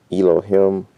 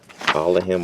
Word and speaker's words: Elohim: Elohim or Allahim or Allahayim, depending on how you pronounce it.